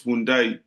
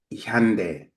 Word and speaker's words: Hyundai: If only How my actually do English, you pronounce Hyundai, it's Hyundai. Hyundai?